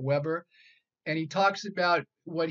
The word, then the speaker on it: Weber: and number two is Max Weber pronounced Weber not Weber and he talks about